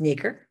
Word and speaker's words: nacre: Nacre is pronounced nacre, is up there for you.